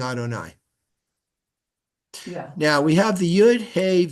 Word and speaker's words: Adonai: these vowels here okay because we pronounce the word as Adonai look at the vowels